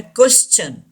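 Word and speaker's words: question: टी यहाँ च का साउंड देता है. क्वेश्चन.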